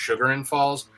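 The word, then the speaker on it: Chagrin Falls: her hair done, and it was Chargan Falls, but it was spelled really weird with like a CH, and but it's called, I think it's actually pronounced Sugar and Falls, but I always called it Chargan because of the way it looked to me.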